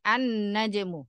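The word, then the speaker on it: النجم: Inna gitu Bukan Ya tapi karena hurufnya dibaca melebur karena didahului Al tadi ya jadi annajmu seperti itu bacanya Jadi bukan menandakan arjulu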